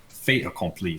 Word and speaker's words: fait accompli: I heard you pronounce fait accompli, so you're leaving the T off, right?